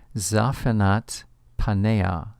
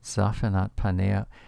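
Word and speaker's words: Zaphnath-paaneah: Joseph by the pharaoh it's recorded in the Hebrew scriptures as being pronounced zafat panea zafat panea verse 45 in chapter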